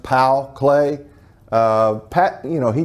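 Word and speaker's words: Paul Klee: other types of table top type pieces uh paul clay and actually his name is pronounced pal clay uh pat you know he did painting but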